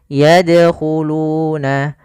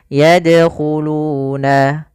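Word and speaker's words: يدخلون: Yaitu yadkhuluna, seperti biasa saja tapi tetap dia memantul, yadkhuluna.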